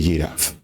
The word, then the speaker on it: ggraph: también tiene asociado G que la pronunciación que le deja es y Y giraf entonces ahí ven vamos